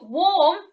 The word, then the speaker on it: warm: sound in these words so for warm it's an or sound which perhaps more logically should be spelt or and then you've got